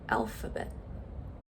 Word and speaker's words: alphabet: Okay, and how about let's do another A word, the word alphabet. Alphabet. Okay, good. Schwa is the second syllable, alphabet, and it's spelled with an A.